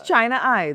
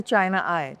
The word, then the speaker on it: Chinai: different ways except China I, which is how it's spelled, you know, Chennai. Right. It's Chennai. Right? Yes, it's China I. That's why I say China I.